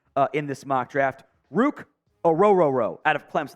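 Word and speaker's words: Ruke Orhorhoro: in this mock draft Rook a rororo out of Clemson that that is how it is pronounced by the way uh the the Clemson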